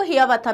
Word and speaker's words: Hiawatha: His well-known poems include Paul Rever's Ride and the Song of Hiawatha. और इसको हियावाथा भी बोलते हैं, both pronunciations are correct.